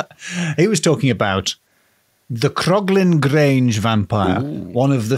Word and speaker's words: Croglin: could tell you also you put an extra syllable in it as well who the who wasn't to indicate a ghost now the krogling Grange vampire was recorded